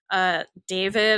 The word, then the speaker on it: D4VD: And I'm like, are you sure it's pronounced David? She's like, yes. Because I'm like, I'm going to talk about it in the podcast. But and people love to correct us. So yeah. So apparently it's David.